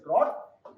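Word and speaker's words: drought: ये ड्रॉट है pronunciation pronunciation of this word is ड्रॉट र इज डी आर ए यूजी एच T draft check the meaning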